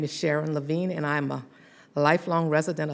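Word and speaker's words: Sharon Lavigne: testimony and we're going to turn now to Sharon Levine I'm sorry if I'm mispronouncing your name that's correct oh thank you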